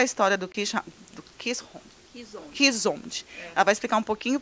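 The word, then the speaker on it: Keeshond: Então, originalmente, eles são cães que vieram da Holanda, por isso que a pronúncia é Kishond, e não é Hound, é Hond.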